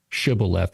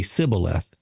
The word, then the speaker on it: shibboleth: group of Israelites, and they say this word, shibboleth, and they say sibboleth. They can't say the word. Right. They can't match the pronunciation.